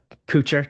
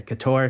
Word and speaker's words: Couture: Generally around my family, and it's Kucher. That's how it's been pronounced here. Okay, Generally, interview people, I say Couture because that's how they'll pronounce it. And if I'm in Canada, it's Couture.